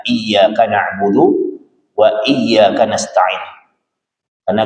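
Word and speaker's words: إياك: Iyaka na'budu wa iyaka nastain itu pakai pakai tasydid. Jadi cara bacanya itu bisyaddah dengan penekanan iyaka na'budu wa iyaka nastain.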